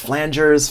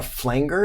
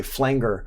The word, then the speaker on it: flanger: Some good examples of insert effects are compressors, EQs, gates, distortion, chorus, flangers, phasers, filters, wahs, stuff like that. Also, this here is not a flanger, it's a flanger. A flanger is how you pronounce that word.